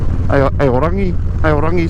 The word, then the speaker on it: Aorangi: There you go, Aorangi Street. Is the right Māori pronunciation.